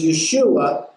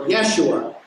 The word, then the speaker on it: Yeshua: part of this teaching, is Yeshua, or Yeshua. You pronounce it either way, and that means Yahweh saves, or Yahweh is salvation.